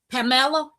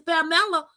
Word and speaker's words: Pamela: I said, "Well, it's Spanish. It's Pamela. It's Pamela."